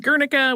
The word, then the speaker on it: Guernica: It also inspired Pablo Picasso's painting, Guernica, which you'll also often hear pronounced Guernica, which is how I learned it from an art teacher.